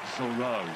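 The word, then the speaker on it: Zoreaux: save from Zoro yeah Chris is pronounced Zoro Zoro Zoro I still can't do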